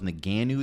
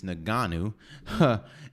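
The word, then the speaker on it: Ngannou: card uh francis naganu which i thought was naganu this whole time it's naganu and cyril cyril gain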